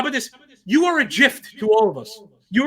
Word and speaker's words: gif: us you are a gift you are god's gift to all of us don't you dare do that right now john you are a you're not a hard g no no it's a gif thank you it's like